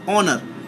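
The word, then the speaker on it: honour: এইচ ও এন ও ইউ আর অনার, অনার মানে সম্মান।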